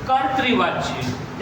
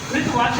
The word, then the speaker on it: कर्तृवाच्य: Active voice का हिंदी अर्थ है कर्तृवाच्य। इसका प्रोनाउंसिएशन बहुत से लोग करते हैं। कृवाच्य कहते हैं। कृवाच्य नहीं ये कर्तृवाच्य है।